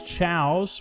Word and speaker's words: Chao: ahead and say is Chow is the way you pronounce it tchau tchau okay that's the pronunciation